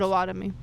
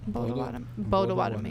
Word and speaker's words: Potawatomi: But it's not I mean, I don't know we if I say pronounced- Potawatomi. Okay. Potawatomi.